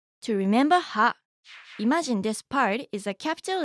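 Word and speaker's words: ぱ: ha with a handakuten is pronounced pa.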